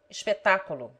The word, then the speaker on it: espetáculo: The following take the accent on the antepenult.